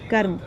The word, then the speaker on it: कर्म: जैसे कि कर्म, कर्म में क के बाद र का उच्चारण, रेफ की मात्रा का उच्चारण आ रहा है, कर्म, कर्म।